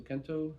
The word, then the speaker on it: Kento: doing multiple color so Kento it rhymes with Bento that's all I remember